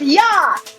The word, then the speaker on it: ja: Yes is ja. Written with J, pronounced as Y.